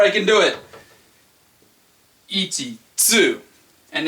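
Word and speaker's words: つ: Okay, next is the T-U. Now you might be thinking tu, but that's not correct. It's actually pronounced tsu. Tsu, like a T and an S put right together, like let's, tsu, letsu, tsu, tsu.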